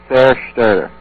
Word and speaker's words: Zerstörer: We pronounced it pretty much like, let me think. It was like Zerstörer.